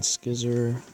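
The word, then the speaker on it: Scyther: And Skizzer, that's how you say it.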